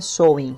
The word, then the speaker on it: Samhain: festividade que se chamava Samhain ou Samhain, pronúncia por conta de vocês aí. Embora pelas minhas pesquisas o mais comum é Samhain.